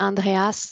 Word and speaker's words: Andreas: Donc c'est Andreas, le S se prononce.